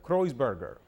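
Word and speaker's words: Kreutzberger: El apellido suyo se pronuncia Kreuzberger.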